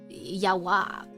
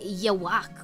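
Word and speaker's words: Yhwach: So I'm like, how do you say I've always pronounced his name as like yawak and it was like German probably cuz quincies are like Germanbased I say ywak or yak the way yak sounds cool that sounds correct unlike whatever I make.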